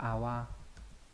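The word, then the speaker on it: 泡: Đây là chữ phao đúng nhỉ, có nghĩa là bọt khí, đọc là awa.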